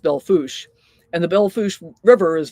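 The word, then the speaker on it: Belle Fourche: Um, but it's pronounced Beluch.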